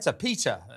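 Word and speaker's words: PETA: Peter, I think is the right pronunciation.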